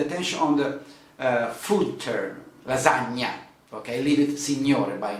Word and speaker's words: lasagna: cappucino good okay um another sound that we have in italy and a typical italian sound is the sound gn gn we pronounce